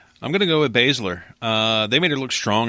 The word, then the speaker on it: Baszler: Baszler. So Ember Moon versus Shayna Baszler.